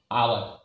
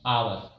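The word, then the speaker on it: hour: आवर है, एच ओ यू आर, आवर, क्या पढ़ता है? आवर, तो यहाँ पर जो है एच साइलेंट हो जाता है, आवर पढ़ाता है।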